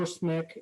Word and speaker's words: SMIC: that is you see smic so in the line it says diminishing friendly supplier base with china rising so smic or smick how some people pronounce it recently blacklisted by the